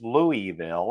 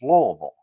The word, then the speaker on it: Louisville: Like, well, depends on where you were raised because it's just like I know Louisville's Louisville, and Yeah. people keep telling me it's Louisville, and it's not. It's Louisville.